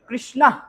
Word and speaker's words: কৃষ্ণ: অর্জুনা, অর্জুনা, কৃষ্ণা, কৃষ্ণা, অটা একটু উজ্জ্বলতর ভাবে উচ্চারণ হবে, ঠিক আছে?